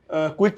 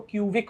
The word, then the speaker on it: Qviq: अच्छा ध्रुव ये बताओ कि क्विक की स्पेलिंग तो कुछ और होती है आपके ब्रांड की जो क्विक बोलने में तो क्विक ही आता है बट स्पेलिंग कुछ अलग तो इसके पीछे क्या हां सर ये बड़ा चैलेंजिंग है हमारा नाम क्यूवी आईक्यू है तो अधिकतर लोग इसको क्यूबिक पढ़ते हैं और इसलिए मैंने ना